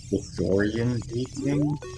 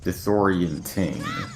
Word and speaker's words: disorienting: Disorientating? For the... Disorienting. Or disorientating. Or am I saying it wrong? No, the word is disorienting, not tating.